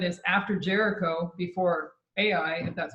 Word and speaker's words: Ai: that in Joshua 7 is after Jericho before AI and that's how you say it that there's